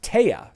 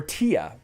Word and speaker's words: Thea: board i pronounce it thea right like fee uh some people pronounce it they a some people pronounce it without the th sound without the th sound